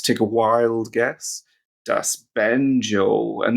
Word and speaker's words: Banjo: a wild guess, das banjo. And this is one of the few times where the letter J is pronounced as J in German because it's a foreign loanword, das banjo.